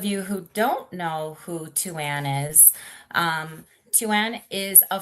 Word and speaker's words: Thuasne: And yes, it's pronounced two like the number two then an or, um, if you are from Europe, it's Tuan.